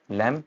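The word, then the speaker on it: lamb: Next है एम बी, B silent हो जा रहा है जब एम बी इकट्ठे आएंगे, लैम, थम, क्लाइम एंड मॉम।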